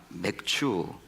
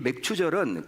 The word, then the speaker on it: 맥추: 속에서 사용하지 않는 말이죠 맥추 발음을 잘하셔야 됩니다 맥추 맥주는 바로 보리를 추수하는 일을 말하는 거예요 보리 추수는 것입니다이 맥추절은 구약 시대 선민 이스라엘